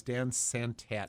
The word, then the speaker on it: Dan Santat: But the author is Dan Santat, and I'm not sure I'm pronouncing his name right. That is right.